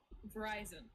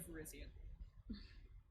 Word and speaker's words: Virizion: Yeah, shell us the balls into Gastrodon by saying Verizon instead of Virizion.